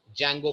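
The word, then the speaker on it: Django: होता है ठीक है इसमें डी साइलेंट रहता है मैंने बहुत से लोगों को देखा है डी जंगो पढ़ते हैं इसको इट्स not pronounced as डी जैंगो it's pronounced as जैंगो जिसमें डी अल्फाबेट साइलेंट है और इसी के अंदर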